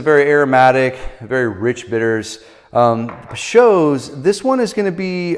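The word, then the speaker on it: Peychaud's: I would always call it Peychauds or whatever it is, but it's Peychauds is how you pronounce it.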